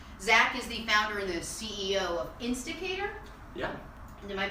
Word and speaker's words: Insticator: But a lot of people mispronounce and say instigator, which is kind of okay though.